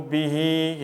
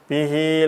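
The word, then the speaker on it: بِهْ: Nanti insya Allah, jadi bih bacanya. Kalau kita berhenti, bih.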